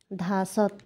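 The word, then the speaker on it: 다섯: করছি আপনারা বুঝতে পারছেন আমি কেন লাস্টে ত উচ্চারণ করছি কারণ এটা রুলসে আছে যদি এই কনসোনেন্ট গুলো যদি লাস্ট কনসোনেন্টে থাকে যেটাকে বলা হয় মানে হচ্ছে এই যে এক দুই তিন এই যে লাস্ট কনসোনেন্ট যদি থাকে তাহলে সেটার উচ্চারণ টি এর মত হয়ে যাবে আমি আমার ভিডিওতে আমি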